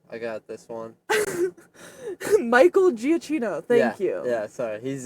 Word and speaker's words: Giacchino: Michael Giacchino.